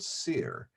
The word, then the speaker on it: Cyr: things happened in the place that rhymes with seer, as in Saint-Cyr, a saint in France. SYR, but the same phonetic, Cyr. So we're going to talk about the place called Cyr, and we're going to talk about turkeys.